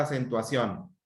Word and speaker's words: acentuación: Entonces, ¿en qué sílaba estuvo la mayor intensidad del volumen? Acentuación. En ción, de hecho, porque el tilde está en la vocal O.